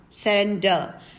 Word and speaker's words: surrender: transcribe then we have surrender surrender where the last r is silent okay these are the